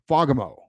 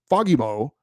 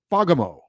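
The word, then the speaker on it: Fagemo: it that it's pronounced fogamo with the accent on the first syllable the a is pronounced like an o in the words jolly and Folly a Swedish person with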